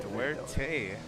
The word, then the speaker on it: Duarte: Duerte is how you pronounce it. okay. It is Spanish, so yeah, Duerte. Duarte.